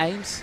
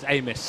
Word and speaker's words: Amos: Is it Matt Ames? He'll kill me if I get his name wrong. No, it's Amos. Amos, that's it. Matt Amos.